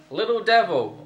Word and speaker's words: Litil Divil: And on today's episode we're playing Litil Devil, although it's spelled Litil Divil. Divil. Divil. Never heard it said like that.